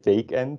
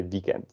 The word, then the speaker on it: weekend: So we do pronounce it as a Dutch W, but then we don't say weekend, we say weekend.